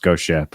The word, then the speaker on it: GHOSTxSHIP: make it I mean it's still pronounced Ghost Ship but for legal purposes it's ghost x ship that's like there was